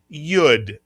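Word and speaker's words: י: This is the and the tenth letter of the Hebrew alphabet makes the same sound as the English letter Y. Mitsuyan, the name of the letter is Yud. Mitsuyan. And remember, the Yud acts the same way the English letter Y acts.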